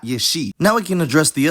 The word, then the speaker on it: ieși: It's spelled exactly the same as the infinitive, but it's pronounced yesh, not yeshi.